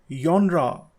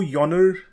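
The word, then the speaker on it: genre: इसका मतलब होता है प्रकार या किस्म, यॉनरा, यॉनरा। Okay, did यू गेट it right? कुछ लोग इस वर्ड को यॉनर या जॉनर या जॉनरा भी कहते हैं, लेकिन इसकी सही प्रोनाउंसिएशन है यॉनरा।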